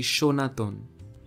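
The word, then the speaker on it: সনাতন: over take for example the word sanatana in hindi now in the word the first sir is used and when you write the word in bengali you also use the word sir but the pronunciation of the word happens to be shonaton linguists suggest that the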